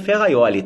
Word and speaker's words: Ferrajoli: correto foi afonso ali inscreve ferrajoli com j mas pronuncia ferraioli tá você sabe que